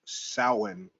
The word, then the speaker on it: Samhain: So Samhain, they're gonna spell it Samahain, but it's pronounced Samhain, like different, way different than what it's spelled.